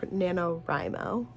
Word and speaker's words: NaNoWriMo: been doing nanowrimo which I also learned is pronounced nanowrimo which just does not roll off the tongue but anyway if I